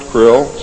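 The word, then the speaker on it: Krll: name and title was his omnipotent highness Krill pronounced Krill spelled KR l l l or c r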